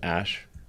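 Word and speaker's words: Æ: they love their X's they love their V's pronounced Ash um yeah and then uh a12 a12 is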